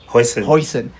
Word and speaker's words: Huijsen: He's playing against Virgil and how do you pronounce this guy? Huijsen.